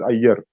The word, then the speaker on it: Iyer: Here pronunciation is Iyer. Hmm? In Marathi also pronunciation is Iyer, Vanchi. In English also Iyer, but while writing I we have to write.